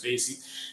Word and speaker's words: spaCy: This was introduced by Google, and they have a pre-trained model called SPACY, or some people pronounce it as SPACY.